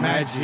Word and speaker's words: Maggi: minor leagues where, and is his name Maggie? Is that how you say it? Am I getting Drew Maggi? It's not Maggie.